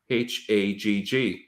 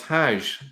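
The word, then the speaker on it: حج: The word is Hag, Hagg. Now in Arabic, it's Hajj, but actually, if you go to places like Yemen and go to Egypt, they still pronounce that as Hag.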